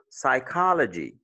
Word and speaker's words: psychology: Et s'il y a quatre syllabes, quadruple syllable words, they may carry the stress, what? On the second syllable, especially when they end in GY, CY, TY, and AL sometimes, right?